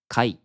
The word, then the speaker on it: 甲斐: Thường thì nó được đọc là "kai", không có âm đục, Được dùng như "yatta